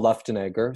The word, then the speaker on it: Luftenegger: so everybody always asks how do you say left and blah blah so but it's the left and Egger so you can go